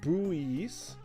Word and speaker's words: buoys: Soyburn says, say it like buoy. Oh, live buoys.